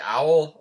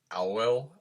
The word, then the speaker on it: OWEL: uh by a band i want to say owl like the bird but it's like i will like i looked up